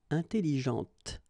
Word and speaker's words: intelligente: Okay, intelligente. Same thing here. When you put this well, actually you will pronounce the final T, okay, but you don't pronounce this here.